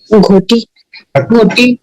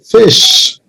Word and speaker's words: ghoti: Ghoti. No. Ghoti. Janam Ghutti. The correct pronunciation is fish.